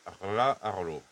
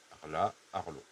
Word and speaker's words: Rlaarlo: Et bon, là ça va être le plus dur, c'est de prononcer le mot, c'est la Rla Arlo. Rla Arlo.